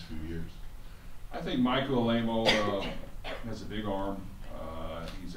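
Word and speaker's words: Alaimo: Just with your quarterback, I believe it's pronounced Alemo, is that right? Yes, Alemo.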